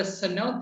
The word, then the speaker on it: cenote: and let's explain to our listeners what a cenote is because a lot of people may not know that's spelled c e n o t e cenote